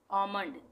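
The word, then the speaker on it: almond: आमंड, ये आलमंड आलमंड बोलते हैं ना, वो गलत है, आमंड होता है, आमंड, एल साइलेंट।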